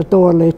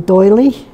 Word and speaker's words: Doralee: name I much prefer Doralee to Dorothy but Americans have a little problem pronouncing it Dickie call me doily or dolly and I don't like